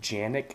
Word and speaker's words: Canik: it is actually pronounced Janik. They pronounce their C's as J's, but for the purpose of this video, I'm going to be calling it Canik because, you know, I prefer that over Janik.